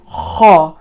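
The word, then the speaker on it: خ: So this kha, that sound that you hear, all right, kha, you have to pronounce it like that.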